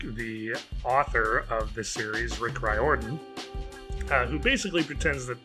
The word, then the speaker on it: Riordan: rick riorian rick do you know how to say his name rick reidian right orton right rick riordan if you were not